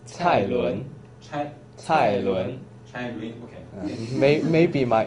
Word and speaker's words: Cai Lun: So can you pronounce his name? It's Cai Lun.